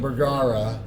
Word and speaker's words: Bergara: Bergara. Yes. But if you were really good and from Paraguay, or Uruguay, not Paraguay, Uruguay, you would roll the R's and say it correctly.